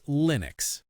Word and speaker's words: Linux: The standard American English way to say it is Linux. Linux. The I sound is short like in sit or is linux.